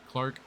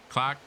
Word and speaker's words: Clark: You know how to pronounce Clark in New England? Clark, right? Something like that. Close. It would be the number 36, Anthony Clark. Clark. Yeah. Like the R is gone. No R's.